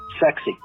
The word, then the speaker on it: CEXC: explosives exploitation cell so the initials were cexc pronounced sexy of course if you're